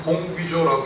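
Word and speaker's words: γογγύζω: 여러분, 이 수군거리다란 말의 원어는 어떻게 읽냐면 공귀조라고 읽습니다.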